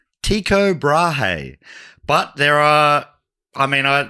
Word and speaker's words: Tycho Brahe: Tiko Brahi. Okay. What's the name? Tiko Brahe.